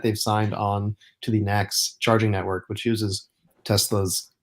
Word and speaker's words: NACS: Oh, is that how it's pronounced? NACS? I mean, Fred and I have been doing NACS, so Okay, well, I'll follow you guys then.